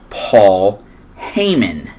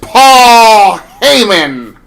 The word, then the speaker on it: Paul Heyman: But the next person that comes out is none other than Paul Heyman. Excuse me, sir. You did not say it correctly. Ladies and gentlemen, my name is Paul Heyman.